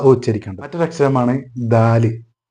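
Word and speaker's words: دال: മറ്റൊരു അക്ഷരമാണ് ദാല്. ഈ ദാല് ഉച്ചരിക്കാനുള്ള മാർഗം എന്ന് പറഞ്ഞാൽ നാവിൻ്റെ മുൻഭാഗം മുൻപല്ലുകളുടെ അടിയിൽ വെച്ചിട്ട് എടുക്കുമ്പോഴാണ് ദ ഉണ്ടാകുന്നത്. ദാല്.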